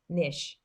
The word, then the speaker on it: niche: the sound of niche how do you say it n-e-e or n-i nish so n now it